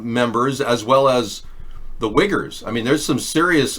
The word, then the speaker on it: Uyghurs: right well the wiggers it's not it's pronounced wiggers but it's the you aged it's a very strange spelling how many uyghurs are there in China